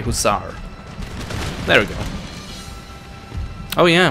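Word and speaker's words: hussar: six here that's the usars right no drons and I completely butchered the way just say huzar there we go oh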